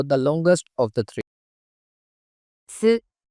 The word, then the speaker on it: す: す、す、 The pronunciation of character su in Japanese is something like the combination of SOO in English.